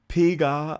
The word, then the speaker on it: Piga: Okay, so Piga, like PGA.